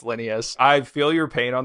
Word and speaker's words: Linneus: was Linneus Medical, and it's spelled like Lineus, right? And so I can't tell you the number of times people still to this day be like, oh, Linus Medical, right? It's like, not Linus, it's Linneus.